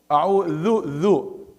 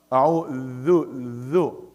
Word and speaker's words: أعوذ: So the sheen, you have to make it clear that, you know, that hums, you know, and a'udhu, you pronounce the dal. I heard it dal.